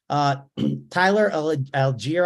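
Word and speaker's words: Tyler Allgeier: Tyler Algier, I guess is the way you say it.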